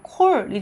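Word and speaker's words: קול: 카프하고 라메드 딱 하니까 크 발음하고 라메드는 리을 발음이죠. 그래서 이게 어떻게 되냐면 콜이 됩니다. 콜. 콜 하니까 이것은 무슨 뜻이냐면 목소리라는 뜻이에요.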